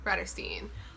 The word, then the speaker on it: Bratterstein: My name is and my channel name is pronounced Bratterstein, like Catterstein, but like a brat because a brat.